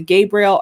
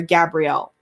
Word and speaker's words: Gabriel: we have archangel uh you can pronounce it gabriel or gabrielle archangel gabrielle supervises thor